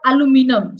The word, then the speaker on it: aluminum: So why we are thinking of aluminium or aluminum? So it is almost the same thing.